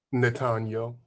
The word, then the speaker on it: Nathaniel: How do you pronounce it? Nathaniel.